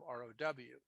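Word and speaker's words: ρ: So you pronounce this as in, it rhymes or sounds exactly like row. If you wrote it as a Greek letter, you probably might write RHO instead of ROW, but it's pronounced row.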